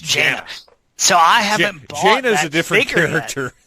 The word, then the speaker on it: Jaina: Jana? J-A and then H. Jaina.